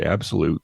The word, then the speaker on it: ABXYLUTE: Yeah, Abixalute. It's spelled ABXYLUTE. I'm going to say Absolute. Yeah. Correct me if I'm wrong, company.